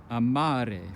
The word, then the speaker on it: amare: An example is amare, which means I love. Second to last syllable.